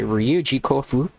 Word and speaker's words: Ryuji Kofu: That's how I'm going to move forward as Ryuji Dread, aka Ryuji Kofu, in case you want to pronounce it in Japanese.